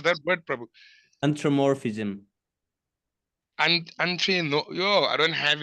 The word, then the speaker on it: anthropomorphism: Oh, can you please pronounce that word, Prabhu? Anthropomorphism. No, yo, I don't have it in my tongue. Hey. Anthropomorphism.